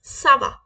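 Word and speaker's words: ça va: आई am okay तो हम क्या बोलेंगे नॉर्मली सवा क्या बोलेंगे सवा सवा हम कब बोलते हैं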